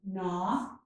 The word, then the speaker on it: gnaw: The letters GN often make the N sound. They make this sound at the beginning of words, such as gnat and gnaw, and also at the end of many words.